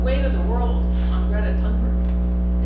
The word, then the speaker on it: Greta Thunberg: You know, the weight of the world on Greta Thunberg. It's pronounced Greta Thunberg, by the way, in Sweden.